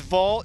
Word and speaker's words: Vogt: nba referee right here steve is vault the only guy with a silent t in the world to his name go ahead and show